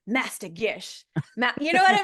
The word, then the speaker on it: Gish: hop in Dragon Ball super let's welcome Amanda G how you doing Gish excuse me we just talked about this too